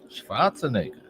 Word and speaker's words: Schwarzenegger: It actually should be Schwarz. Schwarzenegger.